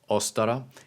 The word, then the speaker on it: Ostara: and the pronunciation of ostara is probably more correct with an emphasis on the first vowel closer to the modern German atin uh for the